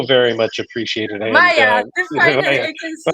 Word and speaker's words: Maja: Because it was Maya. Maja, Maja, Maja. Hey, you know, It's Maya. here's the thing. It's just Polish name. I know so many people from Poland who pronounce it all three different ways.